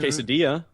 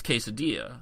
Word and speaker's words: quesadilla: Quesadilla is 2 L's. Yes, but that is quesadilla. Although there are those who would pronounce it quesadilla. Well, again, that's like a now joking manner. this might be a bastardization. This might be a bastardization that's pretty accepted because of white people.